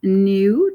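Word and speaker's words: gnu: This is the word new, G-N-U, new.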